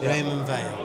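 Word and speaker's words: Raymond Weil: Well, if you're from the UK, Raymond Veil.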